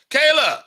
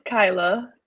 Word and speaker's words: Kyla: So, Kayla, welcome. How are you? It's Kyla, and I'm sorry, great. I just butchered your name. Kyla, it's definitely Kyla phonetically.